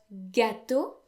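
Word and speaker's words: gâteau: time so escargot then the word gato has a circumflex over the a but that doesn't affect pronunciation at all the a is still pronounced ah when those letters occur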